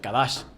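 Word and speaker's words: קדש: hebreo 6942 que quiere que se pronuncia kadash esto quiere decir en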